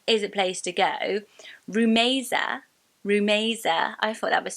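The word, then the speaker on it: Rumaisa: it oh debt is a place to go rumesa rumesa I thought that was so pretty when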